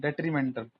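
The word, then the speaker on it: detrimental: से याद करो, डेट्रीमेंटल, प्रोनाउंसिएशन को समझो, दैट दैट डेट्रीमेंटल, डिट्रीमेंटल है, डिट्रीमेंटल है ऐसे तो, डी ट्री, डी ट्री मतलब किसकी आवाज आ रही है, द ट्री की, द ट्री मेंटल, कैसा है मेंटल, वो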